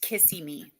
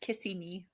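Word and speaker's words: Kissimmee: World does that count I've only ever heard that word pronounced kissy me like when you said it I was like I don't know what you're saying but I've always heard it pronounced kissimi liian say it kissimi and I would assume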